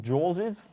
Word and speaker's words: JAWS: Okay, so I use Jaws's shortcut command. Is that how you say it? Jaws's?